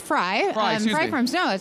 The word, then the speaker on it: Frey: little bit about sama yes so it's actually pronounced FRA it's free and German so Frei Free Frey it's all the same got it I grew